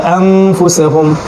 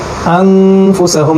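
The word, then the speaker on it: أنفسهم: হরফ হিসেবে ফা এসেছে এই কারণে আমরা এটাকে আন না পড়ে আন পড়বো আন ঠিক উনি স্বরের মত উচ্চারণ করবো নুনটাকে গোপন করে ফেলবো ঠিক আছে তাহলে আনফুসেহুম আনফুসেহুম এবং এক সেকেন্ড সময়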